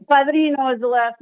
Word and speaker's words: Padrino: Padilla Padrino. Señorita. Oh. Okay. It's Padrino is the last name.